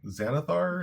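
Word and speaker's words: Xanathar: Xanithar. Is that I'm not sure how to pronounce it. I believe it's Zanithar is what they said. Spelled with an X.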